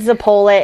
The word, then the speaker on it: zeppole: do you say it I've been taught zeppole but I have heard the pole it and I know like it might be it might be it might be regional thing I don't know